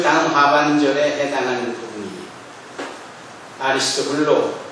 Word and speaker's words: 아리스토블로: 아리스토블로 또는 아리스토플로스, 이렇게도 발음할 수 있는 아리스토블로의 권속에게 문안하라, 이렇게 말씀합니다.